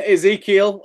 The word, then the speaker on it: Ezekiel: Again, Ezekiel is how I pronounce it.